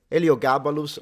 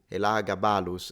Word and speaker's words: Elagabalus: Eliogabalus, or how you say it in Latin, Elagabalus, is the one emperor, was very young, very, very controversial.